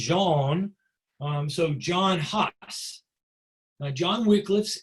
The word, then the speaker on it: Jan: It's not Jan, it's pronounced Jean.